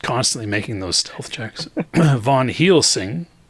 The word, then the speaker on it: Van Helsing: Van Helsing. He's that good of a rogue? Yeah, he's just constantly making those stealth checks. Von Helsing, said it right this time.